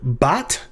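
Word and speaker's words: בת: way in this case examples of hebrew words that start with this short a class vowel called patak include bot meaning daughter if you've ever heard for example of a bat mitzvah which means it's kind of like the female the girls equivalent of a bar mitzvah a ba that's what's called bot mitzvah is because bot means daughter and another example is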